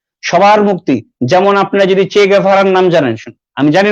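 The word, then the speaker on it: Che Guevara: যেমন আপনারা যদি চে গেভারার নাম জানেন, আমি জানি না শুনেছেন কিনা চে গেভারার নাম, অনেকে চে গুয়েভারা বলে, সঠিক উচ্চারণ হচ্ছে চে গেভারা।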